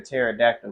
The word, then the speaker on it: pterodactyl: Why can't you hear a pterodactyl go to the bathroom? All right. Why? Because the P is silent.